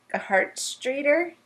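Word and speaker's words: Gerhartsreiter: demeanor that's wine um I'm not sure I know how to say it a heart streer yeah it's German it's German he he he originally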